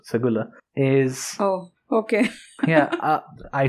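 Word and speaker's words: Seguleh: to bear arms in segura society because it's pronounced segula is oh okay yeah i splashed it wrong as well ap is wrong as well spell these things correctly well it's written a but pronounced segula yeah for some reason i am not going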